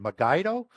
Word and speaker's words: Megiddo: however you want to pronounce the last word, Megiddo or Moged or Moad, Okay. depending on the Okay.